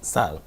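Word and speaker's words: 쌀: So you have to say like sal, right? Sal. It's like rice.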